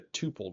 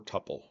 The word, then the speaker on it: tuple: Now let's move to the tuple data type, or tuple, depending on how you want to pronounce it.